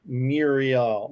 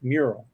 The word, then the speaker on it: mural: Mirror let's see Paul it says it's not Muriel Muriel it's mural mural that's right but every